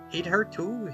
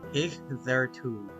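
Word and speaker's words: hitherto: Yeah, it means to this point and it's pronounced he there too. He there too. He there too. to this point. Huh, I see. But that's so weird cuz it looks like hit her toe.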